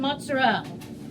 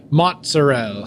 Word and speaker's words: mozzarella: Yeah, mashed potato, caramelized onions, cheddar cheese, and mozzarella. Oh, and I forgot that's how they say it over here. Mozzarella.